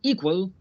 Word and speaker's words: equal: With equal, the stress is on the first syllable, equal.